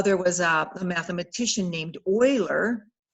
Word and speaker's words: Euler: get zero well there was a mathematician named euler euler it's pronounced euler and he kind of thought well well let's